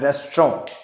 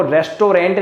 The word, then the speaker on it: restaurant: देखिए सबसे पहले जो स्पेलिंग है वो है रेस्टोरेंट। इसको देखो रेस्टोरेंट नहीं बोलते, बोलते टाइम आप कोशिश करना इसको रेस्टोरेंट बोलो, रेस्टोरेंट, इट्स नॉट रेस्टोरेंट।